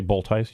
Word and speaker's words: Boltice: Road Commissioner, and Steve, how do you say that name? Is that Boltice? I would say Boltice, yeah. Boltice, who's the president of Macataw Area Coordinating Council.